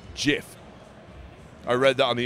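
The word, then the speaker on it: GIF: you pronounce this word i actually no it's jif i read that on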